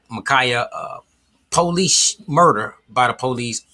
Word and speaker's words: Ma'Khia: was dealing with the Ma'Khia, I believe that's pronounced, Ma'Khia police murder by the police in Columbus, Ohio.